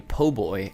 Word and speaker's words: po' boy: It's pronounced a po' boy, and it is a hoagie from the south.